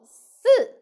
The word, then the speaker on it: 四: 十横竖十 So you will find number 4, 四 and number 10, 十 The pronunciation is quite confused, so pay attention. Number 4, 四四 So the tongue should be flat.